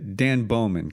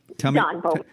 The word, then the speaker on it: Don Bowman: Dan Bowman, correct? Am I pronouncing that right? Don Bowman. Tell me about that whole scene with Dan. Don Bowman. Don Bowman. I'm sorry, Don.